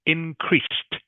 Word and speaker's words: increased: D on the end are actually pronounced like the letter t Okay so increased inre